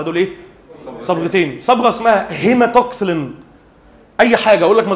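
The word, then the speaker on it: hematoxylin: لكن انا بخلي بس ودانك تسمعها النطق الصحيح مره. اسمها هيماتوكسلين اللي هو حرف الايه؟ الاتش اند ايوسين اللي هي الصبغه الثانيه.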